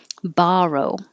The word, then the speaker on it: borrow: it eat it 55 borrow the vowel is ah as in hot borrow and we were contrasting